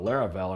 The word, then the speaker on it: Laravel: something like that and I was like what rhymes with that and thought laravel and I was like that sounds like something